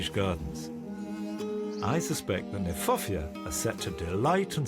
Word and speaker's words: Kniphofia: I like the fact that Kniphofia, which is an awkward word, not an easy word to say, in fact is mispronounced. We should pronounce it Kniphofia, because it was named by Johann Hieronymus Knipp.